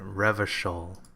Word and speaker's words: Revachol: That's how you pronounce it, Revachol.